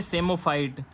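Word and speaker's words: psammophyte: option है वो है सेमो फाइट पी यहां पे साइलेंट है तो सी इज करेक्ट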